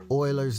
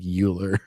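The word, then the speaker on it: Euler: Terry flowers for for pronouncing Oiler correctly. Like most people that like didn't actually like take a math class, we'll try to call it like Uler.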